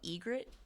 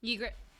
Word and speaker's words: Ygritte: while ago with um i always say her name wrong egret ygritte i always pronounce the y like you hear